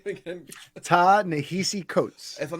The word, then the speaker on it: Ta-Nehisi Coates: And I'm gonna pronounce his name wrong. Can you say the author's name again? Ta-Nehisi Coates.